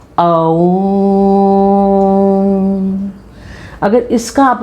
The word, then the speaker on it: ओम: आ, ऊ और माँ, इससे मिलके ओम शब्द की रचना हुई है। ओम।